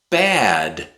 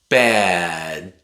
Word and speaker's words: bad: Bad That's natural. But sometimes we replace the D at the end with a glottal stop. Bad Bad My English is so bad.